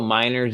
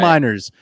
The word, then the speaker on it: Meinerz: Should I pencil Miners in for you? You don't need to pencil Miners in. You can pen Miners in. All Quinn right. Miners, Wisconsin Whitewater.